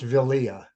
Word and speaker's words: Vilia: their transgressions, the river Vilia would overflow its banks. It's pronounced Vilia. Vilia, okay. Vilia. It's a vocalic yud there.